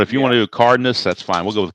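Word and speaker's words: Cárdenas: Yes, and that'll bring up that's pronounced not Cardenas. How do you pronounce his name? Well, technically it's Cardenas, but okay. In Spanish, but I go Cardenas. Okay, because I used to call him Cardenas, like Dennis.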